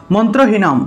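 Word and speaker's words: মন্ত্রহীনং: করি এখানে কি লেখা মন্ত্রহীনম ঠিক আছে মন্ত্র হিনম অনুস্বার অনুস্বার থাকলে সেটার উচ্চারণ ম ঠিক আছে তাহলে হীনম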